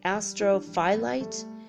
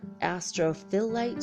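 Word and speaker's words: astrophyllite: my life astral flight but it sounds like astral flight but it's not spelled that way Astro phyllite or Astro fill light I'm gonna spell it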